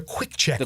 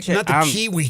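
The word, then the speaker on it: Quik Check: sandwich shop on Madison the Quick Check not the Kiwi check terrible with this terrible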